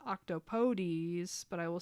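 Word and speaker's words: octopodes: It is meant to be pronounced octopodies, but I will say octopod out of spite.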